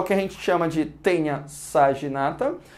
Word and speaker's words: Taenia: a escrever assim galera em latim tainha tá mas a gente se pronuncia tenha eu já vi algumas